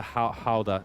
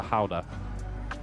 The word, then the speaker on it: Gouda: the Google thing and then hit the soft G. Yeah, so it's the Gouda. Like it's more. You're more saying like Ouda. Like think you say like remove the G and you're doing Ouda, except it's like a soft G. So think GH, the Gouda. They're really subtle at heart. It's in the back of your there.